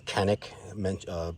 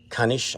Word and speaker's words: Canik: Although Canik, pronounced Kanish, I think in Turkey.